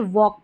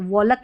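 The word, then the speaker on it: walk: एल के एल के को क पढ़ेंगे। एल क्या है? साइलेंट। तो देखिए वॉक पढ़ते हैं। वोलक नहीं पढ़ते हैं। आपने देखा है कभी? टॉलक पढ़ते हैं। नहीं टॉक पढ़ते हैं। है ना? एल साइलेंट रहता है।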